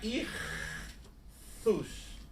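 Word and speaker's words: ΙΧΘΥΣ: A palavra grega irthus. Né? Se lê istus, mas se pronuncia irthus.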